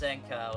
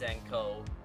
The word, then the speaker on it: Zankow: It's not pronounced Zanca. It's pronounced Zango.